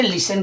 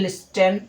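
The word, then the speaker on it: listen: अगर हम कहें जैसे लिसन कहें ठीक है? एल आई एस टी ई एन। कुछ लोग इसको बोलते हैं लिस्टन।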